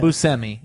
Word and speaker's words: Buscemi: Buscemi, actually. Buscemi. Steve I'll Steve pronounce- Buscemi was I- also in Hotel Transylvania.